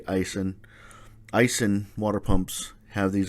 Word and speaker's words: Aisin: ice and has it I don't know how you pronounce it most guys say acen other guys say icing Icing water pumps have